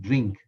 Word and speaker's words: DRNK: come across it this this is pronounced drnk is pronounced drink so it's a a